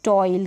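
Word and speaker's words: toil: फिर ये है टॉयल, क्या है टॉयल, कॉइन, ऑई करके यहाँ पर प्रोनाउंस किया जा रहा है।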